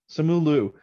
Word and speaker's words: Simu Liu: Simu Liu? Yes. Simu Liu.